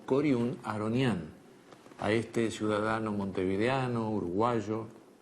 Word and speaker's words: Coriún Aharonián: cori y materno harput pero todos lo conocemos y pronunciamos como corun aronian a este ciudadano montevideano